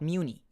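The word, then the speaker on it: Mewni: of his constant talk about Muni this and Muni that. Muni. It's pronounced Muni.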